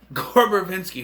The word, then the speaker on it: Verbinski: Gore Verbinski, who also directed Pirates of the Caribbean franchise, which the first movie in that franchise is my favorite of the franchise.